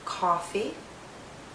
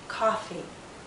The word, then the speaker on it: coffee: people drink all coffee some people drink coffee coffee coffee a coffee if you hear a coffee the lips are more rounded and the tongue is pushed backward more if you hear ah coffee the lips are more relaxed and the tongue may be more forward coffee coffee listen